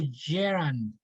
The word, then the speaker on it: gerund: good idea okay what is it the correct pronunciation of geronium oh gerund okay ing gerund or ing form okay very